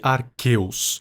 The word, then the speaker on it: Arceus: A propósito, eu sei que os nomes se pronunciam guiratina e arqueus, mas eu não tô nem aí. Para mim, geratina e Arceus são mais legal.